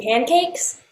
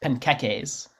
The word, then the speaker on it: panqueques: Do you mean pancakes? No, I didn't say pancakes. It's pronounced panqueques.